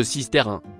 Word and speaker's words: Sisteroun: En provençal, occitan, on écrit Sisteroun et prononce Sisterin.